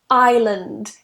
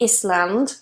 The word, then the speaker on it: island: so number one is island now here whenever we have an S that comes after an i we don't pronounce the S so we don't say Iceland I hear this a